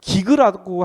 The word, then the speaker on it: gig: 원래 제대로 발음하면 기그라고 하더라고요.